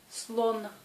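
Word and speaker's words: слон: Ici, la dernière lettre N est une consonne sonore aussi, mais elle n'a pas d'un homologue sourd. Elle se prononce comme dans l'alphabet. Slon.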